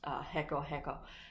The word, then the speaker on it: reco-reco: It's not spelled like that, so don't think that it's H, like E-C-O. It's actually R, but in Spanish it's pronounced reco-reco.